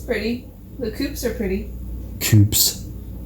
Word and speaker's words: coupe: Coupes. How much soup would you put in a coupe? Would you fill a coupe with soup? Even though it's pronounced coupe.